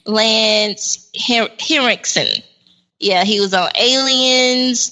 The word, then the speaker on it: Henriksen: Yep, Lance Harrison. I'm trying to pronounce his name right. Lance Henriksen.